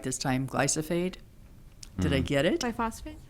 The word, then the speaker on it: glyphosate: if I can say it right this time, glyphosate. Did I get it? Biphosphate? Yeah, phosphate. Roundup, Yeah. glyphosate.